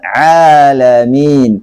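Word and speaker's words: العالمين: Jadi bacanya yang benar adalah rabbil alamin, pakai ain.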